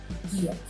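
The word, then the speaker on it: 기역: पहला कॉन्सनेंट है गियक। इसका नाम याद करने की ज़रूरत नहीं है, मैंने सिर्फ बताया है आपको ये है गियक। इसका प्रोनाउंसिएशन जो है, इसे किस तरह से पढ़ा जाता है, वो है ग या फिर ख।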